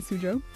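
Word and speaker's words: Suzhou: to the University of Science and Technology in sujo this how you say it we were we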